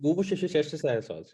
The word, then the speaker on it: Worcestershire: It's Worcestershire sauce.